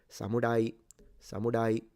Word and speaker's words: samurai: Other Japanese pronounce it almost like an L. It's like an in between an L and an R.